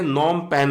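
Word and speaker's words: Phnom Penh: तो नॉम, इसको हम बोलते हैं नॉम पेन है, नॉम पेन है करके जो है वो कंबोडिया की क्या है?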